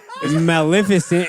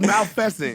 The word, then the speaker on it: Maleficent: Maleficent. Exactly what he said Oh, you mean is Mississippi? what it's called. I thought it was Malfescent. No.